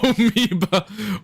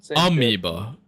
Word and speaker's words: amoeba: Omeieba. We're not letting you live that one down toinity. Omeea. Yeah, Omeoeba. My bad. It's Amoeba. And it's spelled like Amoba.